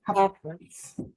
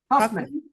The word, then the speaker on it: Huffman: Her name is Huffines. I'm sorry, repeat her name, please. It cut out. Miss Huffines, Senator Huffines. Is that how you pronounce that? Joan Hoffman. Huffman. Thank you.